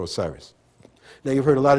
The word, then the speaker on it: Osiris: Wizir is the correct term for Osiris.